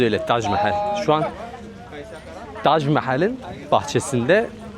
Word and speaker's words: Taj Mahal: Telaffuzu öyle, Taj Mahal.